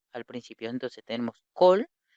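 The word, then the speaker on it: כָּל: Eso significa que ambas se van a pronunciar como O al principio. Entonces tenemos col y tenemos ma.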